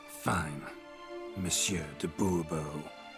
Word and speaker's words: Bourbon: yet as monsieur de bourbon fine monsieur de bourbon the emphasis falls on the last syllable see now i'd